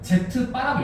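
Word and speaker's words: z̄: 읽을 때는 Z바라고 읽으면 돼.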